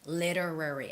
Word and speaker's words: literary: novels okay and literally literary i think this is the trickiest word this is the hardest one to pronounce literary literary you can make the hard t sound or the softer t sound literary literary literary work